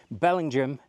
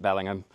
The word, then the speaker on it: Bellingham: famed for its lasagna Belling Jam don't pronounce it Bellingham another monitoring station in